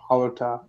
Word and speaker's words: Hallertau: Hallertau? Is that how you say it? Blanc? Hallertau, yeah.